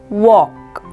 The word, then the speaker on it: walk: next word is walk L is silent so we pronounce this word as walk in this word B